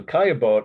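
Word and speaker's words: Caillebotte: and became part of this post-oppressions movement so kayabot is spelled c-a-l-l-b-o-t-t-e kayabot Paris a rainy day the title the date 1877.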